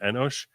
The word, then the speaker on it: Enosh: We call him Enosh. We'd probably spell it with an S instead of that C. But we pronounce it in Hebrew Enosh.